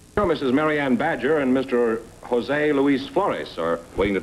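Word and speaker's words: José: Is that the way you pronounce it, Josie? No, Jose.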